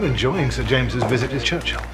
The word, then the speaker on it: Churchill: sir James's visit his Churchill Churchill that's how you say it all together like that I'd heard church and Hill but couldn't find either all I could see